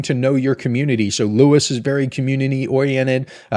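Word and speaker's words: Lewes: you have Bethany Dewey Cape Henlopen Lewis it's pronounced Lewis it's not L if you're a tourist you say l it's not L it's Lewis femi Island all better than reoboth in my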